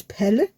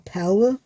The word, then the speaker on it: Pelle: And the ginger one that we have, his name is Pelle, which is, if you want to pronounce it, it's kind of like saying palette, but without the T. So it's Pelle, or Pelle, if you want to do it in English.